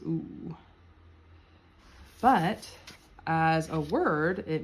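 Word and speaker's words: у: then that's why and how it's pronounced is ooh but as a word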